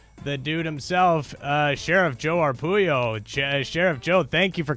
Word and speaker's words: Arpaio: Well, my mother and father came here from Italy legally, So you got to get my name pronounced right, Arpaio.